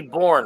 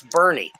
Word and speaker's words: Boerne: There's a place called that's spelled Boerne. Should be Bourne, right? No, that's Bernie, Texas.